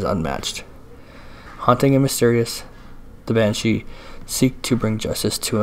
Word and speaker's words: banshee: the correct pronunciation was, it came out to be Banshee. Two separate words, ban and then she.